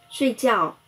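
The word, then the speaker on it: 睡觉: 睡觉，睡声调第四声，觉声调第四声。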